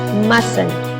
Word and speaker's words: mustn't: itu diganti dengan tanda koma diatas lalu cara pengucapannya mesen Oke emas Nah mustn't ini diartikan tidak boleh